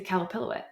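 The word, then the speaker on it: Qalupilluit: the cup palic um is another spelling for it um it's spelled with a Q so if anyone wants to look it up it's q a l u p i l UI T um really creepy really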